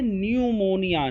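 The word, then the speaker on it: pneumonia: निमोनिया का क्या होता है, अक्सर P साइलेंट होने की वजह से हम कैसे इसको लिखते हैं, न्यूमोनिया, न्यूमोनिया लिख देते हैं, बट ये गलत है।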